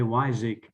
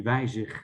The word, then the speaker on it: Weyzig: Yeah, well, you know, internationally, it's probably the best to say Weyzig, but in Dutch it would be Weyzig, and nobody can pronounce Okay, it.